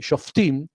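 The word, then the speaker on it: שופטים: Se dice Shoftim, en realidad en hebreo tiene una shin, que es una letra que obviamente en castellano no existe, que se reemplaza en el idioma castellano, se translitera con una S y una H.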